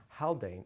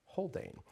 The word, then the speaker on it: Haldane: Viscount of holdan and I should say it's not pronounced howan is holdan and we actually have